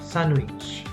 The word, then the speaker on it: sandwich: design sun new witch sandwich sandwich so the n and the w together sanuvitch sandwich sandwich rain rain so